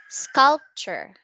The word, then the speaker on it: sculpture: Okay, that's sculpture. Sculpture. Okay, there's no R on next to you. That's L, that's not R, that's sculpture.